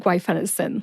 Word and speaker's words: guaifenesin: was a Jedi master the next syllable is Fen like the fender on a car I which is the schw e sound or the short e sound like the e in the middle of the word elephant I and sin like the